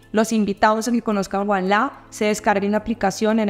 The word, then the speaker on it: Ualá: una sola aplicación y que esa aplicación sea Wallah.